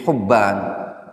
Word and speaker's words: Hubban: Ternyata bukan Muhammad bin Hibban tapi Muhammad bin Hubban.